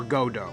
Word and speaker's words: Godot: recognized by his pseudonym godot or godot as i'm now learning is as actually how it's pronounced just take the [